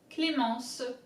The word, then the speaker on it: Clémence: So as you can see, there's the accent on the E, which indicates that you have to pronounce E. Clé. Ment. Se. I-N is en. Clé. Ment. Se. Clémence.